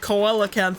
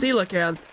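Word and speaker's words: coelacanth: And I was I was said like coelanth or something. That's kind of how it's spelled. C O E L. It's pronounced cilacanth.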